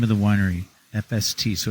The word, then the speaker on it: Efeste: Tell me about the name of the winery, FST. So it's spelled EFESTE, which is hard.